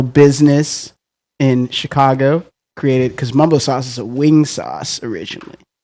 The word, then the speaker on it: Mambo Sauce: because if you know Mumbo Sauce is spelled m a m b o but pronounced Mumbo Sauce so that's how they